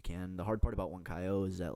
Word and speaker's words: Huancayo: And if you had any advice to somebody that just got their call to Peru, how do you pronounce it? Huancayo.